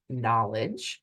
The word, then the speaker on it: Nolej: All right, so the tool that I'm talking about today is this tool that's pronounced Knowledge, spelled Knowledge, Knowledge, AI.